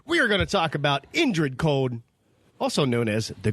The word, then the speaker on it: Indrid: hey guys what's happening we're gonna talk about Ingrid cold grinning why do I keep saying I can't even spell it right Indra not Ingrid let's just take two we are gonna talk about Indrid cold also known as the grinning man mmm